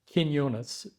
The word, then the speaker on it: Quinonez: Quinonez is correct pronunciation.